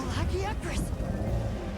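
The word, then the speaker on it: Lagiacrus: So, that's where that's where I've fought Lagakris. Um, the lagris, that's the cause of naggy. See, that's how you pronounce it.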